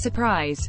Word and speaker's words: 5urprise: The 5urprise, pronounced surprise, members Yuil, Seo Kang